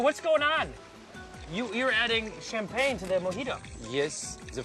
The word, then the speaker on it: champagne: You're adding champagne to the mojito. Yes, the French mojito. It's good, huh? Champagne. Champagne. Champagne. Oui, champagne. Champagne. Champagne. Champagne. You say champagne. And we say it like this. Repeat.